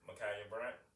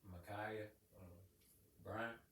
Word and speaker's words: Ma'Khia Bryant: Ma'Khia Bryant. Ma'Khia Bryant. Like Kobe.